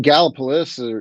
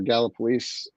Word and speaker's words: Gallipolis: I mean, Gallipolis or Gallipolis, depending on who you're asking how to pronounce that, is that's the ape